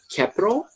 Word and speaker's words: capital: Você pode falar capital, com T com som de R ou não. Capital ou capital. Tanto faz, tá bom?